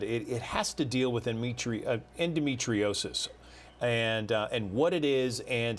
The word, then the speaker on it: endometriosis: Yeah, endometriosis.